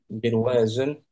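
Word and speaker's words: بِرْوَازٌ: Birwaz bir birwazun kasrahnya birwazun. Heeh. Birwazun tuh lingkaran. Nah, ya maknya barawiz. Ada kan? Ada biruas bacanya bnya kasrah.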